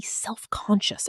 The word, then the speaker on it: self-conscious: speaker, she became suddenly self-conscious about her accent. Pronunciation. Self-conscious. 3 syllables when spoken. Stress on the second. Self-conscious. In fast-connected speech, self-conscious. The final syllable reduces.